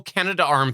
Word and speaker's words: Canadarm: the whole Canada-Arm thing, because when you say Canada-Arm, after the duh, like it's duh-arm. Like there's 2 A's in there, but that's not how it's spelled. Like everybody says, and I believe we officially call it the Canada-Arm, but it's not. It's missing an A in the spelling.